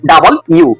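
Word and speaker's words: W: তার পরবর্তীতে যে অ্যালফাবেটটি রয়েছে সেটি হচ্ছে ডাবল ইউ, এটাকে আমরা পড়তাম ডাব্লিউ, কিন্তু এর সঠিক উচ্চারণ হবে ডাবল ইউ ডাবল ইউ ডাবল ইউ।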